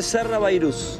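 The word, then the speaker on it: Sarrabayrouse: Se escribe Sarra Bairuse y se dice Sarra Bairuz.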